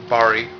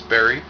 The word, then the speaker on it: Bari: I am the, or Bari, which most people can't pronounce my first name because they think it's Barry.